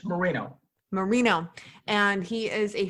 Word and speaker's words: Moreno: me autumn clifford today we have uh el morano did i pronounce that right it's moreno mourinho and he is a former police officer